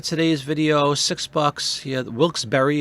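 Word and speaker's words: Wilkes-Barre: video six bucks yeah Wilkes Berry is how it's pronounced Pennsylvania it's kind of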